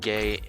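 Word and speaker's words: Geh: have the divine serpent gay yeah how do you pronounce it it's g-e-h so i think it's gay but yeah it's in his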